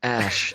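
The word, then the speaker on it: Æ: letter X and then AE is pronounced ash and 8:12 is my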